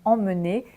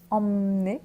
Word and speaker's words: emmener: on commence avec emmener donc pour la prononciation mener emmener qu'on peut aussi prononcer emmener emener si on parle très vite ça signifie qu'on prend